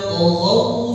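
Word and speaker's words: طغوا: Taghaw itu ada harful lin, di situ jadi taghaw. Oh, jadi karena dia sebelumnya ada huruf o, jadi cara pelafalan, cara pengucapannya pun mengikuti huruf o.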